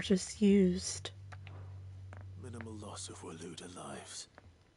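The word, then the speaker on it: Waloed: Minimal loss of Waloda lives. Warlord. Okay, that's how you pronounce it.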